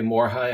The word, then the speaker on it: Morihei: It's a 1K Morihei, I think is how it's pronounced.